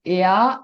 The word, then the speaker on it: heir: Because “h” is silent. For example,' " an hour", " an honor", "an heir", " an heirloom" "an herb", " an honorary", " an hourglass" ”.